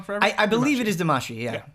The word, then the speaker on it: Damacy: I believe it is Damacy, yeah. It's like Buscemi and Well, Damacy. it's a weird thing because Yes. it's spelled Damacy, but there's not actually like that sound in Japanese.